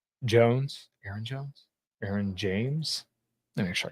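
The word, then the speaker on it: Ayron Jones: out give give me like a genre uh Aaron Jones is another guy that I've been listening to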